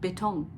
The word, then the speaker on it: Beton: in English it's concrete and in German it's betong betong b-e-t-o-n is concrete and then I read